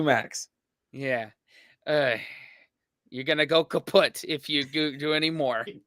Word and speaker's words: kaput: moved to the us we spell it with two T's in Germany but we pronounce it the same way kaput and it basically has